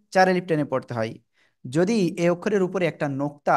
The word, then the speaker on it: ض: তাহলে উচ্চারণ হবে যদ।